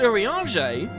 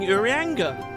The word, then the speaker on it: Urianger: Wait, it's pronounced Urianger? I've been saying Urianga.